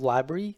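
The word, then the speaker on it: LBRY: I'm not jumping ship it's called library you spelled with lb ry so if you actually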